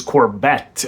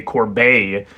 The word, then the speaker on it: Corbet: pronounced correctly I've also I always thought it was Corvette but I heard heard someone interviewing him recently say Corbet uh so apologies to